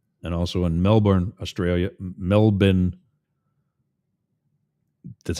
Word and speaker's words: Melbourne: Melbourne, that's how it's pronounced.